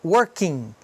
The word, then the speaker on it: working: o ING aqui, porque o ING também é interessante que a gente não pronuncia o G. Working, morning. Então não é working, nem morning, né? Não tem I nem G. É working, morning.